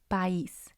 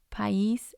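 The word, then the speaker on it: país: create their own syllables for example pais pais means country and following the rules of spanish grammar a and i should be together in one syllable but because it has the accent i moves to its own syllable so it's going to have two and this dress is going to be on the eye another example is rio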